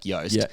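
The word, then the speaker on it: Joost: So that's why the J is it's like yoast.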